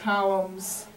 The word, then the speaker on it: coulomb: So that C, let me show you how to spell it. It has lots of OUs in it. It is spelled C-O-U-L-O-M-B, columns.